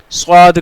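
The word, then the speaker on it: صاد: कहां से अदा होगा सद को हम जुबान की नोक और दोनों दांतो के अंदर किनारे से अदा करेंगे क्यों क्योंकि येरिया लेटर है और इसको प्रोनाउंस करेंगे हम यह भी याद रखिएगा यह मुस्ता लेटर भी है मुस्लि हुरूफ में से भी है मुस्लि हर्फ भी है ठीक है तो हम इसको कैसे प्रोनाउंस करेंगे थिक करवा इस में पढ़ेंगे फुल माउथ के साथ भरी हुई आवाज में ठीक है आम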